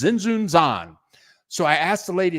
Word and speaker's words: Tzintzuntzan: And it ends up that the T is silent. It's Tzintzuntzan.